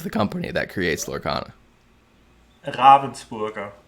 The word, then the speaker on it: Ravensburger: Ravensburger. It's called. Okay, so Ravensburger. You got to roll the R a little bit. Well, neither one of us are right. So Taylor says Ravensburger, like the bird.